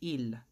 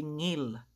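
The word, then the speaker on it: 일: So, for example, ito po ay ill, hindi ngil. Okay?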